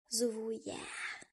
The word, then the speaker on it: Zuvuya: Eles surfam o zuvuia. Zuvuia não é difícil de pronunciar. Se você quiser, pode dizer zuúia.